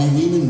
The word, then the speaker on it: Lehman: I'm Ari Lehman, rhymes with demon.